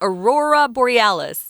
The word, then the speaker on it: aurora borealis: by the aurora how do you say that aurora borealis yes that's it indeed the aurora borealis but